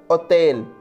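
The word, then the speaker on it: hôtel: For example, hotel, hotel. Drôle, funny. Hotel, H is always silent in French.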